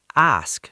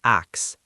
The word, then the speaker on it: ask: And ask. It's ask not axe.